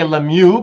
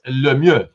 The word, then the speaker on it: Lemieux: The Americans say Lemieux because they're you Americanize everything, but it's really okay. All right. Okay. If you want to say it French, like Quebec, it's Lemieux.